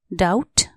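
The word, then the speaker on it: doubt: एस T trust संका डाउट डी ओ यू बी टी डाउट यहां B silent D ओ यू बी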